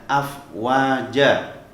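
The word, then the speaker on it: أفواجا: satu anak-anak ya afwaja Nah cuma membacanya dibaca afwaja Kenapa karena ketika tanwin dengan Alif jika terdapat pada akhir kalimat dan dia akhirnya wakaf maka hanya dibaca dengan huruf fathahnya saja afwaja selanjutnya anak-anak di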